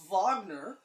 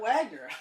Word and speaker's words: Wagner: that is so cool I didn't know you pronounced Wagner as vogner I always said Kurt Wagner yeah but now I